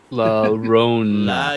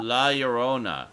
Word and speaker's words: La Llorona: Seth Angel with the correct pronunciation, by the way. La Rona. La Rona. La Llorona.